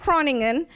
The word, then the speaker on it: Groningen: at the Faculty of special Sciences University of Groningen did I say it right Steven Froning him can you hear me yes yes okay yeah it's University of Groningen in the Netherlands he is his PhD focuses